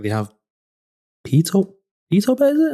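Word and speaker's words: BtoBet: Because NeoGames, if I am correct, they have Pito Bet, is it? How do you pronounce it? BetaBet, yeah.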